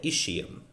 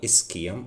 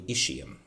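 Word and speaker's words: ischium: and below postro inferior plane we have the ishium. Many people call it iskum. I used to call it iskum but now I I I came to realize that the correct pronunciation is actually ishium.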